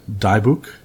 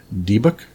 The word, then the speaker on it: dybbuk: folks it's also cr4 it's a pronounced I pronounce ad a dybbuk but I've heard a pronounced Dybek and D buck as well these things are